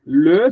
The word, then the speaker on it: le: O no singular ele é bem fechado. A gente desce a boca chega vai lá embaixo. Vamos lá. L L L L L L. Muito bem. Le serpã, tá?